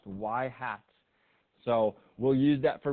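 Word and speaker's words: ŷ: It's this Y hat, you know, pronounced Y hat.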